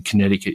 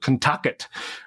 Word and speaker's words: Connecticut: Anyway, but we didn't know how to pronounce Connecticut. And I remember we called it Kentucket, right?